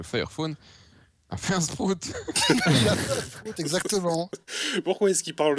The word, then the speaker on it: Sprout: Et donc, c'est pas Sprout, c'est Sprout. Ça s'écrit S-P-R-O-U-T. Et donc, c'est Sprout.